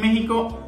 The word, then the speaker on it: México: sabemos que decimos méxico méxico se escribe con equis y se pronuncia como j entonces ya de méxico si es normal para